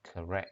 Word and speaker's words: correct: Các bạn nhớ cái chữ correct á, đọc là correct ha.